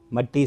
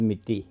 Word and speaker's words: مٹی: اولاد ہیں۔ آدم کو مٹی سے پیدا کیا گیا تھا، مٹی سے نہیں، صحیح تلفظ مٹی، جو مٹ جانے والا ہے۔ آدم کو مٹی سے